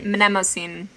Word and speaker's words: Mnemosyne: You do pronounce both the M and the N in that. Mnemosyne? Mnemosyne? The goddess of memory. Mnemosyne.